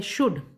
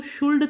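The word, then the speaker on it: should: शुभ हो कि आप यह जो शब्द है शुड इसमें ऐड तो यूनिटेंडेड है लेकिन यह हम इसको शोल्ड तो नहीं पड़ते हैं बच्चों तो इसमें जो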